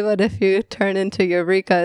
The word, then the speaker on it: Eureka: But I needed it to be able to be pronounced American way. So I just decided to name myself after the Eureka vacuum cleaner that we had at our house. I was like, and people can say it, Eureka.